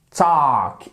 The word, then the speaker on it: talk: Talk, exactement. Le L ici, vous ne l'entendez pas lorsque vous le prononcez, ce verbe.